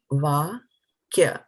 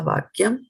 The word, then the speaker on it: vākyam: Tadā, vākyam. So vākyam, actually kyam, that's a syllable.